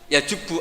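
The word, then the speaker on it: يجبّ: Al islamu yajubbu maqoblah itu bacanya bukan yajibu tapi apa yajubbu yaq lah kalau pas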